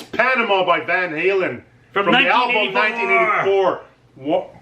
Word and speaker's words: Van Halen: I can't pronounce this band properly. Oh, come on. See, Vun-Alin. No, it's Panama by Van Halen.